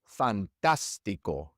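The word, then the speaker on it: fantástico: For example, fantastico. Fantastico. In this word, we stress the third to last syllable and so it must have a written accent mark.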